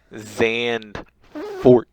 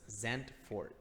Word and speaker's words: Zandvoort: Zandvoort. You pronounce the D as a T and the V as an F. So it's Zandvoort. You know what?